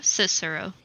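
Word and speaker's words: Cicero: sir C cero cero cero cero C cisero cisero okay I said it right the first time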